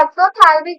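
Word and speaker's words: exophthalmic: एक है एक्सोथैल्मिक goitre, P silent है, ये क्या है यहाँ पर, साइलेंट है।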